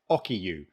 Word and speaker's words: Okiiu: So the producers of this did actually send me an audio of how to pronounce it, and it's Okiiu, right?